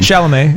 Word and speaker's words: Chalamet: One is that now I have a terrible crush on Pauline Chalamet, or however you pronounce that last name. Chalamet, yeah.